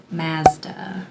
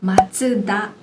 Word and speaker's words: Mazda: So some examples would be Mazda. Mazda. Yeah. The correct pronunciation being Matsuda.